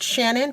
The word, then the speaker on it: Chanin: And so her name was Shannon, pronounced Shannon, but it was spelled Chanin.